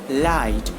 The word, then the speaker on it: light: Light, GH is silent.